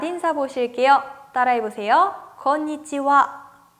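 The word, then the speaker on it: こんにちは: 건 위치와 건 위치와 내 끝에 있는 히라가나 하 발음을 제가 방금 와 라고 읽었죠 인삿말을 발음 하실때 할애 와 라고 발음 해주셔야 된다 그래서 저녁 인사도 건방 와 건방 와 라고 발음 해요 나디 행사와 저녁 인사는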